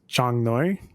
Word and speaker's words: Chang Noi: It's pronounced Chang Noi. Chang Noi. Yeah, small elephant, little elephant. So no G at the end? There is a G, but it's kind of like soft, Chang, okay.